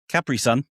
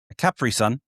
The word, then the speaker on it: Capri Sun: Capri Sun. Yeah. Is that how you say it? Capri? Capri Sun. I mean, the island's called Capri, but we call it a Capri Sun.